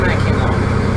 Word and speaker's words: Mackinac: That's why that's such a weird pronunciation, because it's a French word. So it is Mackinac. Mackinac Bridge. But it's kind of funny, I don't know. Like, this is the English language, we are in the US. But we have to pronounce the word in the French way.